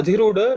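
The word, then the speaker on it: अधिरूढ: So you should understand this dha. I don't think you come across this very often. This is the fourth letter in the ta varga with Mahaprana dha. Okay. Adhi. Adhi. This is the in the ta varga. It is the fourth one.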